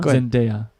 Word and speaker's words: Zendaya: Zendaya.